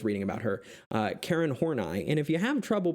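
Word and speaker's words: Horney: more i was reading about her uh karen hornai and if you have trouble pronouncing that right it's horn i um not horny or hornay as i was saying um what i found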